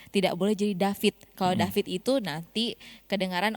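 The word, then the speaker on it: דוד: Kalau yang ringan kan David, tapi bukan begitu cara bacanya, harus David.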